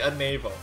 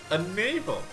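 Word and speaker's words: Anavel: Now, Annabelle, Annabelle, Annabelle, different countries pronounce this differently, alright? I like to say Annabelle, just like the the one on your belly, right? A navel.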